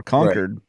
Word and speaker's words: Concord: so it's whether it's Concord which is the English like the queen's English version or conquered which is the northeastern version of Concord I prefer conquered because